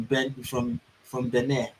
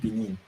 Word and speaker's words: Benin: The extremists believed to be linked to Al Qaeda have in the last year crossed over from Benin. That's how it is pronounced, not Benin.